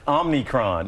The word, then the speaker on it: omicron: It's omicron.